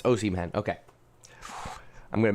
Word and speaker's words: Osimhen: It's Osimhen. Okay. I'm going to mispronounce his name once or twice.